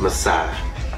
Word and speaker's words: Messy: Messy. It is pronounced Messiah. But it's spelled like messy.